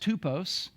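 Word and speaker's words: τύπος: now the word example the Greek word there is pronounced tupos even though we spell it typos um but it actually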